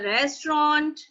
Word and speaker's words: restaurant: ਜਿਹੜਾ ਲਾਸਟ ਵਾਲਾ ਟੀ ਹੈ ਉਹ ਟੀ ਇੰਨਾ ਕੁ ਬੋਲਣਾ ਹੈ ਕਿ ਬਸ ਮੂੰਹ 'ਚ ਹੀ ਉਹਨੂੰ ਖਤਮ ਕਰ ਦੇਣਾ. restaurant, restaurant मतलब वो बिल्कुल साइलेंट टाइप ही हो जाए.